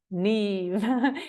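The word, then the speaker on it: Niamh: I'm going to introduce myself my name is Neeve it's spelled n amh but it's pronounced Neeve a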